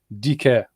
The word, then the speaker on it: Dicaire: your name wrong but DK oh yeah she's Canadian obviously the French word deca yeah that makes sense